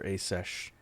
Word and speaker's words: Aseth: Alright, we need to go after Asesh. Interesting pronunciation, spelled Aseth, but the actual character voice pronounces as Asesh.